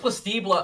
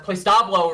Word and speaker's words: Playablo: And it was just Plao or Playablo rather, sorry.